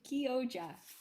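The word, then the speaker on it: Chioggia: that word differently so we decided to look up the pronunciation and it's actually kyoja yoja yeah so we all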